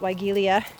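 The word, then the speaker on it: Weigela: time of year is wilia. Um I think that's how you say it. Some people might say it welia.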